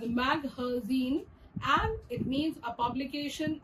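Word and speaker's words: مخازن: Magazine is another word derived from the Arabic language, which is pronounced as maghazin, and it means a publication or a storage place.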